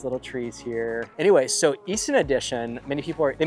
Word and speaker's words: Easton Addition: Anyway, so Easton Addition, many people, they mispronounce the name of the neighborhood and call it Eastern Addition, but it's not the Eastern Addition.